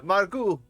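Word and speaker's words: Margaux: her dirty work ah someone finally said the name margu so the x is silent i am afraid so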